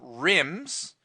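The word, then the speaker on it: RIMM: Ram they came on rims which by the way r-i-m-m does not stand for anything it just rhymes with The Sims and dims okay so it's rambis's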